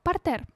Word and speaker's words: партер: Партер, французское слово, ударение ставится на последний слог.